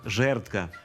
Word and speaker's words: жердка: Винятком також є слово «жердка», адже в ньому звук «д» звучить як «т».